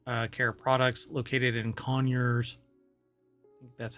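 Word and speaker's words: Conyers: and spa water uh care products located in conures that's how they pronounce it um Georgia has led to an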